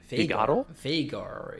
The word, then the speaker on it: Veigar: Veigar, it's the pronunciation, I think, because he says it himself. So I guess he knows how to say his name.